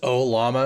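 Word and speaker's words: Ollama: It's just a matter of figuring out Oh, could you touch on is it just O Lama? Is that how you say it?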